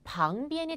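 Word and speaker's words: 旁边: 있어요 어제가 강의를 할 때도 가장많이 학생 틀리는 발음 중에 하나가 방 비엔이 될 수 있겠습니다이 방비는 여러분 저희가 발음을 뭐랑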